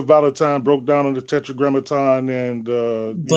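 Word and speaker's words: Tetragrammaton: There are certain aspects and one of these aspects say for instance people may talk about the tetra namogram tetetrogrammaton more likely I mispronounced it.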